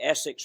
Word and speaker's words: Essix: He invented the Essex retainer, which almost any orthodontic knows, and they spell it ESSIX, but it really is S to the 6th power, which stands for Sheraton Superior Stability for the Social 6.